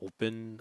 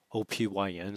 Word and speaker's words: Opyn: and the uh the open protocol i hope i'm pronouncing that right it's opyn so i'm assuming it's pronounced open but uh who knows uh